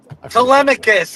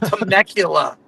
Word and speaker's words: Telemachus: How do you pronounce it? Telemachus. It's not Temecula.